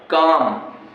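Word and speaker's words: calm: जब एल के बाद एम आता है तो एल का उच्चारण नहीं होता है। देखो कहा है पाम, और कहा है काम, और कहा है बाम। एल के बाद एम आए तो एल का उच्चारण नहीं करते हैं।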